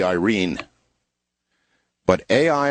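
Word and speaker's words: Airyn: my way of thinking Aaron it's a i r y n Aaron but actually um correctly pronounced um as it would be read by uh Filipino would be Irene but a i r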